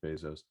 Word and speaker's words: Bezos: think you could see that potentially if it's especially if it's Bezos, pardon me. He pronounces it Bezos.